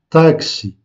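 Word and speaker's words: táxi: Donc, alors qu'en français, nous prononçons le mot taxi. En portugais, nous disons taxi. Donc, on accentue le A, la première syllabe. Taxi.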